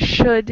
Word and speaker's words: should: Okay, we have in should and would, it is the L, it is silent. But in mold, no, it is not silent, I think. Exactly. Mold, we pronounce the L. In should and would, we do not, it's silent.